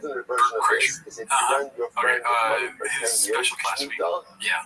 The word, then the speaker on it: Bert Kreischer: Because last week, Bert Kreischer's, that's how you say it, Bert Kreischer.